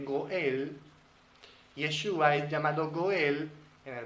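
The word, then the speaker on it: גואל: esto es muy simbólico esta palabra atención en hebreo se pronuncia goal Redentor en hebreo se dice Goel yeshua llamado Goel en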